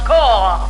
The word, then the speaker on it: corps: I calls out the corpse. Pardon me, that word is pronounced core.